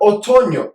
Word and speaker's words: otoño: I mispronounced that. El otoño.